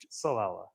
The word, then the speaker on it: Ciallella: Tonight we got uh Jim Kala Chala. Um, do you have to use the finger thing? Yeah. To help spicy ball. And what's the American pronunciation? Sala. Okay. Sala.